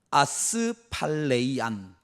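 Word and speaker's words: ἀσφάλειαν: 확실하게 한다.이 4절에 확실하게 한다.이 단어가 헬라어 원문으로 보면 이렇게 읽습니다. 아스팔레이안. 아스팔레이안이라고 읽습니다.이 아스팔레안이 말은 우리 성경에는 확실하다라고 쓰여져 있는데이 단어의 뜻은 넘어지지 않는다.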